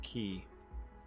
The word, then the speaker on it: quay: custom key for downtown, spelt like Quay, but it's pronounced key, in case you didn't know.